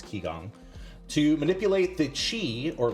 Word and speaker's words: qigong: techniques uh such as i believe that is pronounced uh qigong or it's q-i so it's i think it's ki gong to manipulate the qi